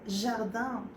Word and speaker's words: jardin: Por ejemplo, siempre lo digo, jardín, lo lees igual, pero se pronuncia nada que ver, jardin.